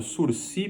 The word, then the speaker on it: sursis: cabe suspensão condicional do processo o chamado aprendizado sursi processual não fala em suicídio em breve sursis